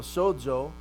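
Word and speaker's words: σῴζω: Now the middle of that word though, sozo, the zeta, it's pronounced like a DZ. So if you look in your transliteration there, I put DZ there for you so you know how it's pronounced. When you have zeta in the middle of a word, it becomes like a sibilant. It's a combination of delta and sigma put together.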